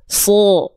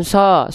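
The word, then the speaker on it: ص: Su su bukan sh tapi su.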